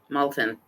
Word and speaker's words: Malton: We're in Molton, right? So, we're going to learn how to spell it now. Molton.